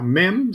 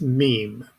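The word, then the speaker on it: מם: now mem spelled in full is mem yod mem now it's it's probably more accurately pronounced meme but we're chicken kabbalists we don't care don't worry about it the three letters enumerate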